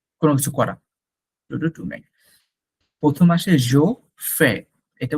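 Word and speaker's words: je fais: টু to make কোন কিছু করা প্রথম আসে জো ফে এটা উচ্চারণটা কিন্তু জোফে জোফে জোফে নট ফেফে টু ইল এলস নজটা একটু হবে নাফেল এটাকে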